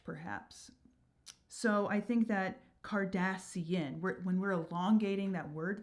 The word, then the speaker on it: Cardassian: So what we're gonna do here is actually extend the word Cardassian instead of Cardassian to 4 syllables.